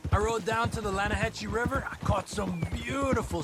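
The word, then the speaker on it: Lannahechee: rode down to the Lana Hetchy River I caught some beautiful steelhead trout you may not know the Lana hatch it runs right near here yeah but is pronounced Lana Hass why is everything in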